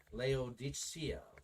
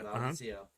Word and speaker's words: Laodicea: supposed canon of uh i'm mispronouncing this leo diccio laodicea of questioned authenticity that